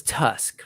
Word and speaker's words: TU5CC: So we're not really going to read through these, but just this is what's pronounced as Tusk, right?